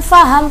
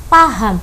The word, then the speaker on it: paham: Bukan faham pakai F tapi pakai P. Yang paling benar itu pakai P. Paham.